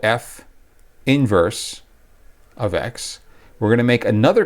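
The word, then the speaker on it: f⁻¹(x): is f of x its inverse is called f inverse of x that's how you pronounce it the way you write it is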